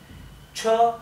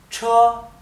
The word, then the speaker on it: 车: Y el tono alto significa que esto no se pronuncia cho, se dice cho, ¿bien? El tono alto, primer tono, cho.